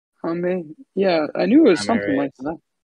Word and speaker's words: Jaime: Tommy Yeah, it's Jaime. Hame?